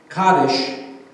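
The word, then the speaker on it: Kaddish: are lighted and a special prayer which is pronounced kades is recited the kades is an ancient poem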